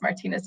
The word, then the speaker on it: Martinez: old and I realized that Martinez was being pronounced wrong? So anyway, I find out that it truly is Martinez because Martinez is how it should be said because it's an ethnic name.